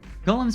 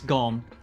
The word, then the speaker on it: Golem: which is of course golem much to his surprise this ends up being pronounced like gollum anyway cockney model on a